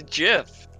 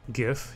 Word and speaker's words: GIF: GIF, you mean? Creator of the GIF format, circa 1987, pronounced with a soft G.